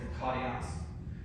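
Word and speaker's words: μακάριος: You're going to roll your R there, it's makarios.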